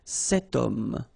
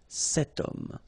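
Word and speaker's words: homme: is here we've got this Ash letter remember Ash is not pronounced okay so you've got the sound of O at the beginning of this word okay setum so that's the reason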